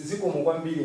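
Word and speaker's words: Zikomo kwambiri: It's Ziko Mugwambili in Chichewa. That's my language. So you can try to pronounce, it's the same as you pronounce.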